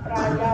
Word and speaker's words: Praya: ini berkiprah di siswa Praya Wanita, jadi bukan Praja ya, Praya itu ejaan lama ya, yang kemudian akan menjadi Nasihatul Aisyah pada tahun 1931 ya.